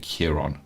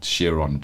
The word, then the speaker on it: Chiron: and Rory speaking about I pronounce it Kiron, but Chiron sounds just as good.